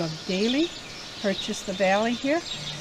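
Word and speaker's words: Dahle: by the name of Daley purchased the valley here his name was spelled d-a-h-l-e so it would have been Dale as far as pronunciation uh more or less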